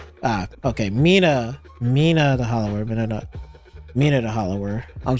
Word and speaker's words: Mina the Hollower: I don't know how you pronounce that. Hold on. Let me just hear it real quick. Mina the hollower is Ah, okay. Mina Mina the hollower.